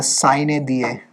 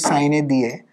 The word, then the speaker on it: sine die: Latin pronunciation is sine die, but sine die भी कई लोग बोलते हैं, but English वाली sine die, it Lok Sabha is adjourned sine die, right?